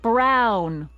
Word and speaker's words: Brown: bill to a te that's EMT Brown rhymes with clown which I'm beginning to